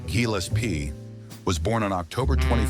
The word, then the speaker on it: Gillespie: John Burke's Dizzy Gillespie, pronounced Gillespie, was born on October 21, 1917, and died on January 6, 1993.